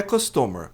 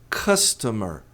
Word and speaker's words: customer: A pronúncia não é customer. Customer, tá errado. A pronúncia é customer. Esse o tem som de e átono, assim como o e aqui. Customer e não customer.